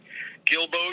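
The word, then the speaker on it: Guilbeau: how do you spell his first name gibb is spelled gib he was a cajun gilboa a g-u-i-l-b-e-a-u and sometimes they put an x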